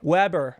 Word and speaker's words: Weber: Is it Weber or Weber? Weber. I said it right the first time.